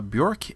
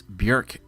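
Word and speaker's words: Björk: I'm here showcasing a recent piece that I did for illustration Friday called bork and berries well I apologize I pronounced that wrong it's buk and berries hopefully you're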